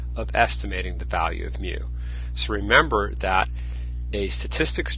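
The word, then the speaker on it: μ: we're dividing by capital N that means we must have taken a sensis so we have the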